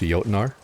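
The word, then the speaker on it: Jötnar: I don't know if everyone's going to be pronouncing it as with a J sound. Totally fine. Absolutely 100% get it. Not everyone is aware. But it is going to be pronounced Jotnar.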